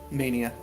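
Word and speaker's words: Menie: yeah no i said mania nice to your name is mania no it's spelled oddly m-e-n-i-e on pronunciation your net your name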